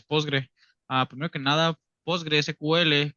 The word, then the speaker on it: PostgreSQL: Ah primero que nada postgre sql comúnmente pronunciado como postgre es es una base